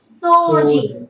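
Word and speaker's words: 掃除: Even though I write it like this, you read it as o sound only.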